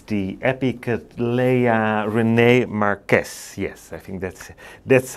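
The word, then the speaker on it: Marques: beauty over here it's the epic leia rene marquez yes i think that's that's how you pronounce it um marquis some people say but i like to refer to it as a marquez and well before we do that mine is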